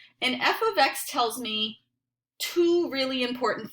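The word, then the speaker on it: f(x): is the hardest part this is pronounced f of X we do not say F times X because it's not we do not say F parenthesis X no way we say f of X can you practice saying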